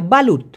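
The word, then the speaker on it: balut: দিয়ে পেচিয়ে যে ব্যান্ডেজটা করবেন ওটাকে বলা হয় বালুত বালু আবার বলু চুনেন না ভাই বি এল ইউটি উচ্চারণটা হচ্ছে এই বাত মানে আবার কুচে কুচে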